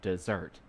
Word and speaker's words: Mount Desert: on an island called Mount desert she pronounced it desert ice cream cookies brownies